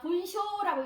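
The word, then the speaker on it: 文章: 문장이라는 표현에서 쓰이는데, 자, 문장은 자, 분쇼라고 읽어주시면 됩니다. 분쇼가 문장이란 뜻입니다.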